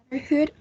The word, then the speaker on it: brotherhood: it in the chat brotherhood and the stress level is uh the first one brotherhood and this will have a three syllable um the second one